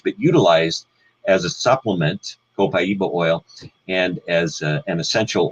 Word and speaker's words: copaiba: know of it and you pronounce it different ways copaiba co-pay ba you know there's many different ways that if we do it correctly from South American Spanish it would be copaiba and interestingly enough I